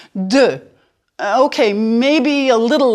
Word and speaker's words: deux: Sorry, there's no real equivalent in English. Deux.